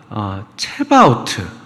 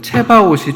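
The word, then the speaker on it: צבאות: 히브리어로는 여호와 체바오트, 여호와 체바오트라고 하더라고요. 이게 어떤 그 한글 번역에서는 체오바트라고도 번역한 곳이 있는데 찾아보니까 어쨌든 체바옷이 조금 더 그 원어에 가까운 발음이라고 합니다.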